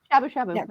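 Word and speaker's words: shabu-shabu: Is that how it's pronounced? I'm horrible. Shabu shabu. Shabu shabu? No, shabu shabu.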